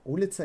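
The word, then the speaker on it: улица: to exercise with ulitza ulitza is Street oh Lee with the emphasis on o write it for yourself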